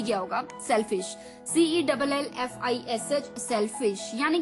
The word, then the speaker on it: cellfish: तो 11th word for the evening was सेल्फिश। ये तो बिल्कुल आपको याद हो ही गया होगा, सेल्फिश, CELLFISH, सेल्फिश, यानी कि हिंदी डिक्शनरी गूगल में